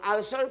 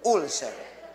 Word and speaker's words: ulcer: ang ulcer po ang ulcer po ay ang pagkagago ka dahil sa taas ng acid at ang tamang pronunciation po ulcer pero sa Pilipinas ang tawag niyo ulser Pakisabi nga po ulcer